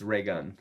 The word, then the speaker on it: Raygun: It's Ray Gun. Like one word, like Ray Gun. Yeah, Reagan.